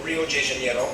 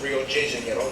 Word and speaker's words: Rio de Janeiro: from the old capital, Rio de Janeiro. That's right, it's pronounced Rio de Janeiro, not Rio de Janeiro. Get it right, we're not in Mexico, this is Portuguese, not Spanish.